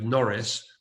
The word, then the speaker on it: Norris: Well, Boris rhymes with Norris, but is Boris and his team getting the COVID-19 thing right, or are they barking up the wrong tree?